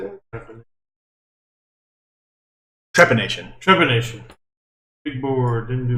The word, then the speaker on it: trepanation: Trephination. Is that how you say it? Trepanation.